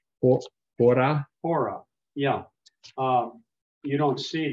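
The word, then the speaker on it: ὥρα: You said pronounced hora.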